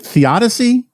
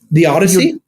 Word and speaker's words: theodicy: here I I've never is it theodicy is that how you pronounce it The Odyssey The Odyssey right the the struggle to